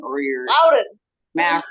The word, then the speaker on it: Loudon: You put a W in there because it's your Boston accent or your Loudon. Mass accent. There's a U. It's Louden. Loudon. You don't always pronounce things the way they're spelled.